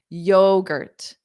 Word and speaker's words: yogurt: hi or hello yo and then the gur T is unstressed so it sounds like Girt Girt Girt yogurt yogurt yogurt what flavor